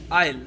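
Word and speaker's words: Isle: इनमें से किस देश को कहा जाता है एमरल्ड आइल? जो ये वर्ड है ना ISL, इसको आइसल नहीं कहेंगे हम, ये इसको हम प्रोनाउंस करते हैं एमरल्ड आइल।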